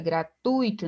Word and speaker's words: gratuito: Gratuito, não aqui, ó, é gratuito, não gratuito, né? Gratuito.